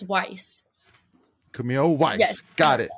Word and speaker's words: Weiss: It's Weiss.